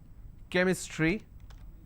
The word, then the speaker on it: chemistry: for example change but when I have the word chemistry CH becomes cur sound so I say chemistry